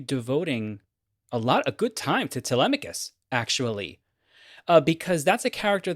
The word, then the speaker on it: Telemachus: I've always heard it pronounced as Telemachus. How do you pronounce? How have you know it? Telemachus.